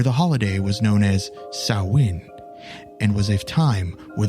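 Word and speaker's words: Samhain: of Halloween disclaimer in this case File I mispronounced the Celtic holiday sawin as Sam Hayne Just Go With It also while we're on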